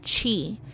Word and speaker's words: Qi: are thought to conduct Qi pronounced Chi a form of energy